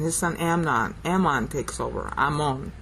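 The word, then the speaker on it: Amon: Ammon is really how I should pronounce it.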